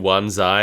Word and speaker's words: Wan Chai: Like it says Wan Chai and they're all saying Wan Zai, and I'm like, just write Zai. Why did you write Chai?